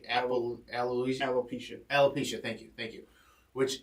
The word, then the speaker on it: alopecia: suffering from i want to make sure i pronounce the disease correctly animal alloys alopecia alopecia thank you thank you which is hair loss